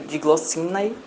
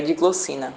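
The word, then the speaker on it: Diglossinae: subfamília dig glossina que é escrito dig glossina só que a forma de pronunciar é de glossina e como é que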